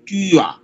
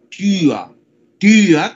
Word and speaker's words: Tür: O sea que se escribe T, U con la diéresis R, entonces en realidad yo digo Tür, ¿verdad? Tür, como tía, el parentesco, pero eso es puerta. Se escribe Tur con la diéresis, pero en realidad se pronuncia como Tür.